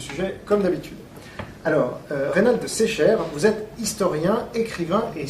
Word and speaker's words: Secher: On dit Secher, pardon, faut pas que je me trompe. Bonjour. Oui, bonjour, c'est un nom breton et j'y tiens à cette Voilà. prononciation. Oui. On s'est déjà eu plusieurs fois au téléphone et donc en effet vous m'avez dit Secher.